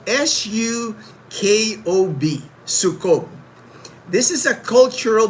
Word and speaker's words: sukob: It's is spelled s u k o b.